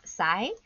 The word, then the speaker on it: psi: use is this trident looking shape and it's pronounced PSI and so water potential is basically a way